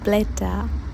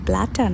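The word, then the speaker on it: Blätter: German translation হচ্ছে ডি ব্লেটা ডি ব্লেটা এখানে এর উপরে উমলাউট থাকার কারণে ব্লাটা না হয়ে উচ্চারণটা হবে ব্লেটা ডি হচ্ছে ব্লেটা এর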